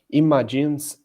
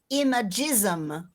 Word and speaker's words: imagism: to read now okay imagines is a early 20th century poetic movement that originated in england and america excuse me i'm sorry to interrupt you but the pronunciation is imagism imagism okay imagism is an